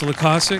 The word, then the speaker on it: Loykasek: Loykasek. Thank you. Is that it? Loykasek? I feel like I always mispronounce it. It's Loykasek, Loykasek, damn it.